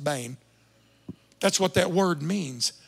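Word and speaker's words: בן: The word bane. We say ben. It's actually pronounced bane.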